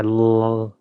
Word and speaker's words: Larf: RFV is saying the R is silent. Only when I laugh.